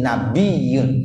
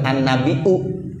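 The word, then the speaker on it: النبيّ: Bunyi 'waw' dihilangkan, kemudian bunyi 'ya' diganti dengan bunyi tashdid. Jadi, menjadi "nabiyun." Itulah yang kita bacakan. Jadi, “Assalamualaika ayyuhan-nabiyu.” Seperti itulah. Jadi ada tashdid. “Assalamualaika ayyuhan-nabiyu.” Sekarang, ada juga yang membacanya sebagai "Assalamualaika ayyuhan-nabiu." Ya, itu diperbolehkan. " An-nabiu." Menggunakan hamzah, dari "naba." Ya, ini adalah variasi linguistik. Tapi biasanya kita membacanya menggunakan 'ya'.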